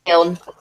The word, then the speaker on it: Milne: Milne, but that's not how you say it. Milne. That's it, Milne. Milne.